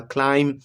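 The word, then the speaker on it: climb: central line कर दिया क्लीम तो एम के बाद जब दी ए जाए तो प्रोनाउंस नहीं होता ये क्लीम होता है हूं में ब्लू प्रोनाउंस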